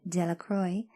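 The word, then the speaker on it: Delacroix: The villagers pronounced this name Delacroy, eventually made a great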